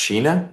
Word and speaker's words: Sheena: State versus, is it pronounced Sheena? Yes, sir.